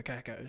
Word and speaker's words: Kako: about kako and said we're going to go wacko for kako so that's why we're going with that pronunciation we I'm so glad